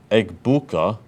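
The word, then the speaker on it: Egbuka: Eggbuka, that's how how you say it, Grankon.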